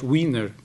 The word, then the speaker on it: Wiener: Wiener e os seus colaboradores, aliás, Wiener, que é a pronúncia correta, e os seus colaboradores